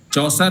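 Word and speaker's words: Chaucer: बस एक चीज है कि ये जो आप और बाकी सारे लोग, मैंने देखा कि चासर सारे लोग प्रोनाउंस कर रहे हैं, ये चासर नहीं है जी सर, ये चौसर है, जियोफ्री चौसर।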